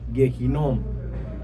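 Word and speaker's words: Gehinnom: Kwa maana hiyo neno bonde la mwana wa Hinom linapotamkwa katika kiania linatamkwa Gehinom.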